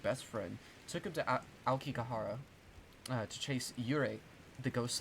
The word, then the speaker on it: Aokigahara: I still don't know how to pronounce it. Fuck. Aokigahara? Aokigahara? Yeah, Aokigahara.